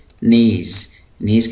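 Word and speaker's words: knees: यहाँ पर जो के है ये साइलेंट है, तो हम इसको पढ़ेंगे नीज़ कहते हैं घुटने।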